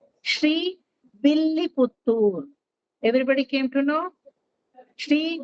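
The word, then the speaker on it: Srivilliputtur: ಶ್ರೀವಿಲ್ಲಿಪುತ್ತೂರ್ ಅಂತಾನೆ ಹೇಳ್ಬೇಕು. ಕೆಲವರು ಶ್ರೀವಳ್ಳಿಪುತ್ತೂರ್ ಅಂತಾರೆ. That is exactly wrong. ಕೆಲವರು ತಮಿಳ್ ಮಾಡ್ಬೇಕದನ್ನ ಅಂತ ತಿರುವಲ್ಲಿಪುತ್ತೂರ್ ಅಂತಾರೆ. That is also wrong. It has to be pronounced exactly Shri Villiputtur.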